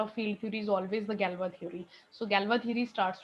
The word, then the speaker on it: Galois: Okay, it's pronounced Galois. It's a French pronunciation of that. It's written like Galois, but it's never pronounced Galois.